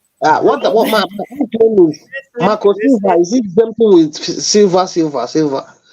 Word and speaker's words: Silva: No, that's how you pronounce No. it. It's not a spelling test. It's Silva. No, It's no. Silva. We're the way the Spanish people say it, and the Latin people say it.